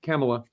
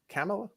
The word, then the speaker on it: Kamala: Now it's 50% Trump, 48.3 to Kamala. Yes, she was. Is that how you say it? Kamala? No, it's Kamala.